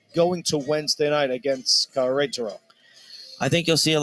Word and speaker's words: Querétaro: The Mexican side, you pronounce it Querétaro. Again, the accent's on that R-E, that second syllable.